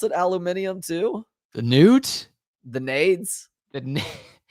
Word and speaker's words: aluminium: It's aluminium. Aluminum.